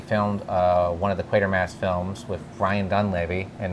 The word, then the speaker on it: Quatermass: and that is qu quater mass and the pit it's pronounced quater Mass not quarter Mass quater Mass but you wanted to